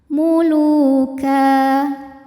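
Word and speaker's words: مُلُوكًا: Jika berhenti di ka hukumnya adalah mad iwad. Sebab ada baris tanwin fathah yang diwakafkan. Maka cara membacanya adalah tanwinnya bunyi n-nya hilang ya. Jadi ka dan panjang dua harakat.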